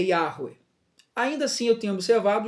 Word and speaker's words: Yahweh: Mas a pronúncia correta do nome de Deus é Yahweh. Yahweh.